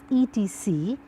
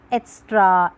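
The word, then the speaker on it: etc.: I say kids etc the full form of ET c is etc we have often seen people pronouncing is that extra extra and many other pronunciations we have heard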